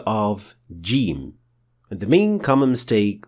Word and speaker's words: ج: The letter jim is a plosive sound, which means that there is a little gush of air released when pronouncing it. If that trait is ignored, which is a very common mistake even among Arabs, then the letter will not be properly pronounced.